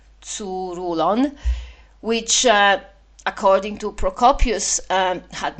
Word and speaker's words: Tzouroulon: In one place in Thrace in a stronghold called Tzouroulon, I hope I say it right. It's T D Z U R U L O N. Tzouroulon.